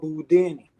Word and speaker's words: Boudini: Number 3, I'm called Boudini. Rhymes with Houdini.